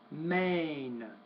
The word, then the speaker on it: main: I know that it's spelled AI, but it's still A, main, pain.